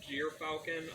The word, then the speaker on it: gyrfalcon: origins of the name jeer falcon um it smells very differently it sounds like j but it's spelled gyr oh okay and uh